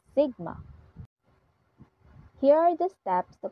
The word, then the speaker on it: sigma: is the standard deviation Whose symbol is o pronounced as Sigma Here are the steps